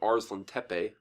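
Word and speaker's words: Arslantepe: swords of Arslan Tepe by the way I got that pronounced right this time ours l'm Teppei i've been corrected on that and so I had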